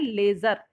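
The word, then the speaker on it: ledger: उसे हम कहते हैं लेजर ठीक है जो डीप साइलेंट है तो इसे हम क्या कहते हैं लेजर पहले जरनल बनाई या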